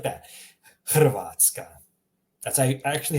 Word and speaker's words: Hrvatska: Notice how I'm pronouncing it, H. Much like the H in helicopter or hamburger. H. That's the one, it's coming from your throat. H. That's the H you're looking for.